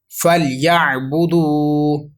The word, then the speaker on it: فَلْيَعْبُدُوا: ہیں، آپ ریپیٹ کیجئے، فا لام زبر فل، یا عین زبر یا، فل یا، با پیش بو، فل یا بو، دال واو پیش دو، فَلْيَعْبُدُوا، را با زبر رب،